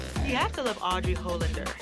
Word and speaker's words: Hollander: It's just the pronunciation of your name. It was kind of tricky, but Hollander, right? Yes.